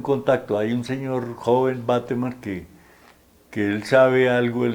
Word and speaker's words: Bateman: Bateman le dicen otros porque suena como gringo el apellido, pero la gente del pueblo lo pronunciaba tal cual como aparece escrito, Bateman.